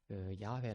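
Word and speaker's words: 야훼: 답으로 번역을 하기 시작 여호와 란 단어가 되게 원래 더 그 발음 교회의 맞는 발음이 아니었다 라는 문제의식에서 그릇된 것입니다 원래 야외 라는 단어가 더 요대 바벨을 나타내는 가까운 다른 이라고 볼 수가 있습니다 그래서 여호와 재인 에서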